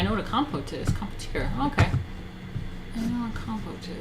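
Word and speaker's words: compotier: It's French. Competier.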